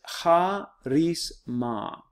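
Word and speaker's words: χάρισμα: next is he and here this one is ha rese ma this is charisma okay if somebody who has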